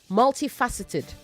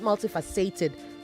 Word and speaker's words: multifaceted: is on the fa multifaceted okay not multifaced both of you both